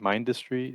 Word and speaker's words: Mindustry: men I don't know how you say it mindustry m i n d u s t r